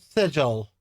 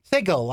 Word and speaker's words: Sigil: Sigle, I mean. Sigle. For some reason, the people designing it decided that it needed to be c it's spelled sigil. S I G I L, but it's pronounced sigle, right?